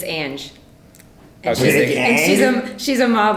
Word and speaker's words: Big Ang: You're pronouncing it wrong. It's Ange.